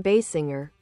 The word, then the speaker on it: Basinger: Kim Basinger, pronounced Basinger, is an American actress